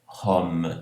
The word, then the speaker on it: Rome: Rome, o M é pronunciado, album, aqui não, aqui eu vou dar uma nasalizada.